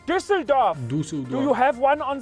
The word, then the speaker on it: Düsseldorf: Some people call it Düsseldorf. When it is called Düsseldorf.